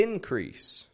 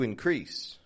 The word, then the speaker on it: increase: difference here's one more good one here the increase to increase if we want to see an increase in